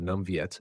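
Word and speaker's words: Nam Việt: chamado Viet do Sul, pronunciado Nam Viet em Vietnamita e Nanue no Mandarim moderno.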